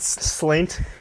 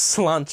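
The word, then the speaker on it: Sláinte: No, not Slaint? It's spelled slaint, but it's pronounced slanche.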